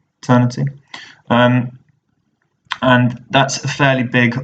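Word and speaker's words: Aeternity: There's Eternity, which is spelled AE, Eternity.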